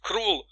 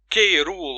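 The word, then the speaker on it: K'rul: Because for example, if I wanted to pronounce it Direk, then that would mean that I need to pronounce Krul K-Rule or something like that, and I cannot.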